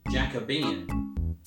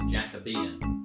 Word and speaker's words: Jacobean: word that i see jacobian i would i would pronounce that as jacobian but nope it's jacobean adjective of the reign